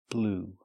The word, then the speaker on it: blew: Or the verb blow, in the past, blew. That's right, just like the color blue, the pronunciation is the same.